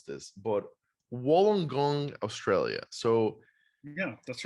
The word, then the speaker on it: Wollongong: you listed as as I'm going to definitely mispronounce this but Wollongong Australia so yeah that's right that sounds like